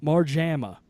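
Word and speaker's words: Marjama: well why are you doing that you know more JAMA mark JAMA yeah that is the pronunciation okay they called up Mike more JAMA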